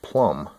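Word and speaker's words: Plomb: And that's, I believe it's pronounced plumb. P-L-O-M-B.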